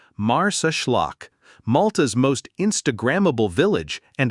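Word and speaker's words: Marsaxlokk: Welcome to Mars Schllock, pronounced Mars Schllock.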